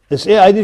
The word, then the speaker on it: said: Bed, red, red, said, S-A-I-D for the spelling, S-A-I-D, it's pronounced said.